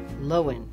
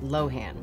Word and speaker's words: Lohan: The proper pronunciation of Dakota's last name is Lohan and not Lohan.